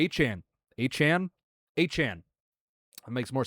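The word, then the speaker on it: Etienne: It chang He changed the pronunciation of his last name. Uh, to Achan.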